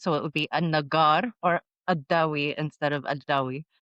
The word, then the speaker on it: Al-Nagar: apparently I just learned we're not supposed to pronounce the L. Even in my surname, it's Adawi. In Arabic, my surname is Adawi, and you're supposed to be Al-Nagar, and we have Ammar Al-Banna.